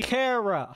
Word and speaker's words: Kara: If you actually pay attention to how Kryptonian is structured, or Kryptonese is structured as a language, it should be Kara.